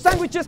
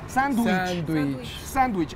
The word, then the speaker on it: sándwich: Sandwich. El error está en decir sandwich.